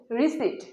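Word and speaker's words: receipt: কিছু কেনাকাটা করে থাকি, তখন আমরা একটা রিসিপ্ট পেয়ে থাকি। রিসিপ্ট, এই উচ্চারণটি ভুল। এই সঠিক উচ্চারণ হচ্ছে রিসিট।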